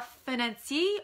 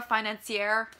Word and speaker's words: financier: It's called a financier or a financière, depending on how you want, whether you want to pronounce the ending R or not.